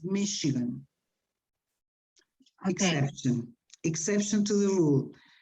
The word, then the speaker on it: Michigan: Names, let's see, this city in English is not Michigan, it's Michigan.